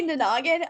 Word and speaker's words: Nanagin: sudden you okay so you said the word nanan differently so we were pronouncing yes say it again for us I say nagan um at this point